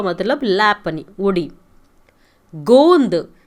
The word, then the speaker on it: गोंद: गोंद GONDH, ऊपर एक डॉट लगेगा, उसे गोंद कहते हैं. गोंद का मतलब गम, जिगरू. गेंद, गेंद का मतलब बॉल. एक मात्रा का फ़र्क है. आप सही से नहीं प्रोनाउंस किए तो पूरा सेंटेंस बदल जाएगा.